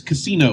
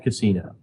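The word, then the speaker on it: Cassino: played a whole lot of right now is casino which is spelled CA SS Ino which is just a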